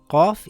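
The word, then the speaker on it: ق: Qaf is a heavy letter. It sounds similar to a crow sound, qaw. The sound does not make a K sound. It comes from the back of the mouth.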